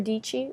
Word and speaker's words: Dietschy: my name is sarah dietschy rhymes with peachy i have a youtube